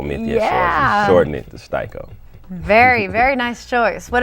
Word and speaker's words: Sty-ko: to say styo myia so shorten it to styo very very nice choice what about yours the